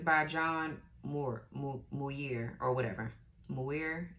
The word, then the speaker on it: Muir: Muir, M-U-I-R, or Mir. Maybe the U is silent. I don't know.